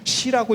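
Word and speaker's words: 寺: 이걸 원래 관청이라는 의미로 쓰는 글자고 시라고 읽는 거예요. 시라고.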